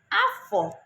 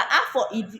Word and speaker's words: afọ: Because Igbo language is a tonal language, you have to listen to the tones.